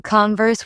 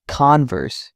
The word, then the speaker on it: Converse: People often call Converse with stress on the verse. It's Converse, evenly spoken.